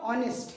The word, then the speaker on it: honest: at this painting of honest you know the spelling starts with h which is a consonant but when we pronounce